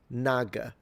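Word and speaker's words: 那个: And uh one would be just to pronounce it as it's written. Naga.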